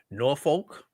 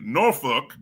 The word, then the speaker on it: Norfolk: Because my people my people back in Norolk, right, say it that way. But if but if you're a native of that area, you say it how you say it. But for the rest of you, Norolk. Yes. Norolk. That's how that's how my people in in Suffuk say it.